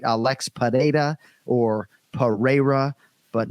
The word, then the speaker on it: Pereira: out of your minds right Alex data or Pereira but not pajeda please no h 100 and you pronounce it beautifully during the flight but uh